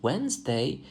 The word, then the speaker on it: Wednesday: However, if we look at the word Wednesday, we realize that even Z can sometimes be silent.